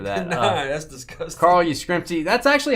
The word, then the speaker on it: Yastrzemski: Carl Yastrzemski.